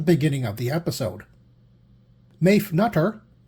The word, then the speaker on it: Nutter: of the episode, Maeve Nutter, I'm told that's pronounced neuter, as a suspicious ex-boyfriend, and Don Gordon as a debt-ridden racetrack promoter.